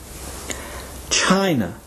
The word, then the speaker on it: China: China also notice that the first syllable is shown in all capital letters to indicate that it is stressed or emphasized while the second syllable is pronounced softer China China repeat after me